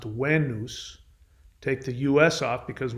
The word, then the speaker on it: Venus: is what wayne because v in latin is actually pronounced as a w the e sound in